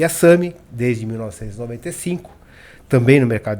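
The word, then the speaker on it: SAMHI: SAMI se escreve S-A-M-H-I.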